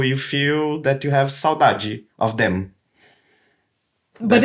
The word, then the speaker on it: saudade: Speaking about Brazilian songs, they keep saying one thing that saudade. Saudade, yes. Which Good is pronunciation, by the way.